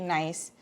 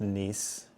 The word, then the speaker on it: Nice: the dried fruit it's it's pronounced nce and it's in France I don't know if I you said nice oh got it um